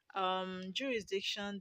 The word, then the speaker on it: jurisdiction: Jurisdiction. The second syllable from the end.